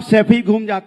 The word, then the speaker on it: सैफई: आनंद, गरीबी देखनी है ना तो सफाई में जाके देखिए, 500-600 करोड़। सैफई तो बोलना सीख जाओ, सफाई नहीं है, सैफई है।